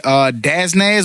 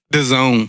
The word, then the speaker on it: DAZN: But Canelo Alvarez signed a massive $365 million deal with Daznaz. What was it? Who? The Zone. The Zone. Spell it.